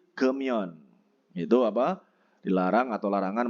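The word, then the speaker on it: 금연: Jadi bukan gemyon, tapi gemyon.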